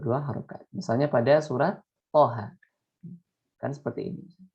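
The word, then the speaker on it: طه: Misalnya pada surat Toha. Kan seperti ini. Nah, dibacanya Toha. Nah, jadi 2 harokat. Jangan kepanjangan menjadi Toha.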